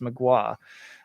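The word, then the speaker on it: Mgła: despel omega or magua which i'll say correctly now i got schooled by metal forge they told me it was pretty pronounced magua releases but those are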